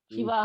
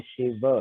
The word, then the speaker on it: शिव: तो वो शिवा ओके शिव नहीं है, वो अंग्रेजी में लिख लिख के उसको डिस्टॉर्ट कर दिया है।